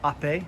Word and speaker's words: Ape: of my 1954 piaggio oppai uh piaggio made the vespas vespa means wasp b in italian is oppe spelled out ape here but ope is how it's pronounced and it's not a